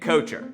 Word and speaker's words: Kocher: I stood up to those bullies by changing the pronunciation of my last name. This is totally true. I said, "I'm not Kocher anymore, I'm Kocher".